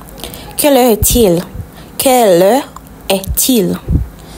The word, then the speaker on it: est-il: Quelle heure est-il? The T and the IL is pronounced together. Till.